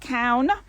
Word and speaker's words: Caune: name of the vineyard is like cow no so it's like a cow moo with an n on the end count and that actually means